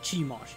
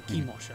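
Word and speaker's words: Chemosh: it's Chimosh. Yeah, or Chimosh, actually. We've been... pronounce it either way.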